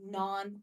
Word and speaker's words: naan: It's with a double A, so you kind of pronounce it like naan. I have a hard time doing that, so I say nan.